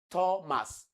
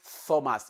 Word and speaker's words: Thomas: So it is not Thomas. It is Thomas, like you have in tell. Thomas.